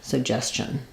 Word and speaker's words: suggestion: We have the ch sound for the letters TI. So writing that out in alternative spelling, think about it like suggestion or chin, suggestion. So just an unstressed last syllable there with a reduced vowel, suggestion.